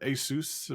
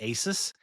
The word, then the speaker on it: ASUS: I used I always, for the record, I always would say ASUS, but I think the right way is ASUS, like you said, but I know I know I say it wrong.